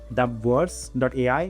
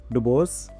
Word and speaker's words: dub.ai: Maybe I didn't pronounce it correctly. Okay, it was dub.ai, not Dubos.